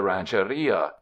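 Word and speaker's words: ranchería: referring to his estate as a ranch area with the accent on the i-4 in Southern California this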